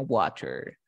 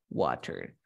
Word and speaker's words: water: más o menos dice si tengo una t o una d entre sonidos de vocales pronunciaré esa t o d como una r un ejemplo claro tenemos